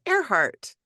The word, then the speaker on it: Earhart: her last name because it's spelled like ear heart but you pronounce it airheart and she loved flying